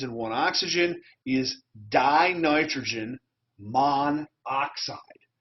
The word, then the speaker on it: monoxide: one oxygen is dinitrogen monoxide notice it's not mono oxide we have dropped the